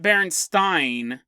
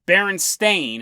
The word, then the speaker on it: Berenstain: again people who say no no no it's not berenstein it's berenstain and it's spelt like that s-t-a-i-n they just go or